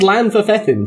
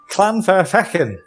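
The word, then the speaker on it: Llanfairfechan: It's the back of your throat. It's 2 L's. It's like a back of your throat, almost like a C. And Like also imagine you're gargling a C sound. it's Every also West Country Fechan, bone... not Fethan. Every West Country bone in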